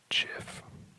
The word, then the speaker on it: GIF: The other very common pronunciation for this would be Jif, like the peanut butter brand, if you're familiar with that.